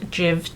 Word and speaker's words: JIIV: It's from the company, I believe you pronounce it Jiv, J-I-I-V, Neo.